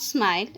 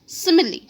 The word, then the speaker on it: simile: let us pronounce again it's not smile it's simile what is simile it